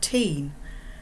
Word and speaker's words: Tyne: the clouds everyone calls the river the Tyne back then we pronounced it teen but it was just our word for river as we sat unmanned